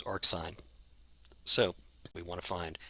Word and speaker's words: arcsin: to define its inverse, which we write as sine to the minus 1, but we pronounce as arcsine.